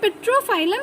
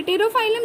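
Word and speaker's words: Pterophyllum: दूसरा पेट्रोफाइलम that is टेरोफाइलम, sorry P again silent है, टेरोफाइलम that is angel fish.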